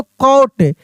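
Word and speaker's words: coat: जैसे लिखा रहता सी ओ टी तो कॉट। अगर यही लिखा रहे सी ओ ए टी तो कोट।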